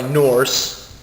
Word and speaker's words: Norse: Inspired by Norse, N-O-R-S-E, or just something that rhymes with horse, mythology, Valkyrie Profile follows